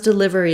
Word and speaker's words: delivery: so pronunciation of delivery because delivery is stressed on the live syllable we will have a reduced vowel here and I can